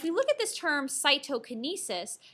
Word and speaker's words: cytokinesis: look at this term cytokinesis saito sounds like the word cytoplasm so cytokinesis is basically